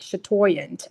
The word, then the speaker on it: chatoyant: have them pronounce it for you so they pronounced it for me and then I was like chatoyant okay yeah I get it now so that's